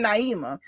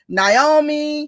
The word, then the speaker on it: Naima: I kept saying Naima. That's perfect. That's how it's spelled. No, I was like, that's how you pronounce her name. But I've heard somebody else say Naomi.